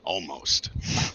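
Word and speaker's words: Olmos: Almost. I like almost is how you say his name.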